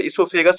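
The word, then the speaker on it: oesophagus: वो साइलेंट करके पड़ेगा, तो इसोफेगस प्रोनाउंस करते हैं।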